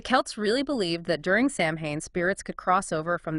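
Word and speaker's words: Samhain: care about it today well Sam Hayne pronounced soen it wasn't just a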